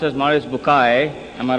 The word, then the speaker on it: Bucaille: scientist and a scholar of quran dr maurice bukhail pronounced as maurice bukai am i right doctor doesn't matter okay he's